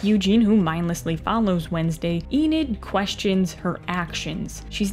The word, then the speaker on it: Enid: think or feel too much where with Eda Eden how do you pronounce this in it Enid that is a weird word to say sorry